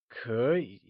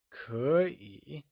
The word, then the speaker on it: 可以: Can you say 可以? It is said with a falling rising tone, like 可以. Note that 可以 is spoken in the second and third tone when together, keeping the two third